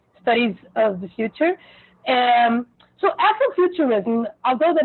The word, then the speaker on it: Afrofuturism: How do you pronounce it? Yeah, that's it, Afrofuturism.